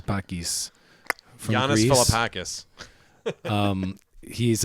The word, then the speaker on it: Philippakis: Yannis Yannis Philippakis. Philippakis from Yannis Greece.